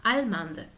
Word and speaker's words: allemande: la pronunciación de español, pero para el caso de allemand, agregar la E hace pronunciar la D. Entonces pasamos de allemand a allemande.